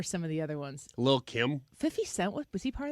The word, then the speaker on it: Lil Kim: also you correctly did not pronounce the T's in Little Kim. Well, because it's Lil.